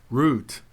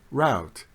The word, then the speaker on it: route: pronunciations are commonly heard route rhyming with boot and route rhyming with about in the United States